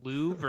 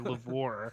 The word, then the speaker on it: Louvre: I'm really glad that Mark left before I had an opportunity to ask if it's pronounced Louvre or Lavore.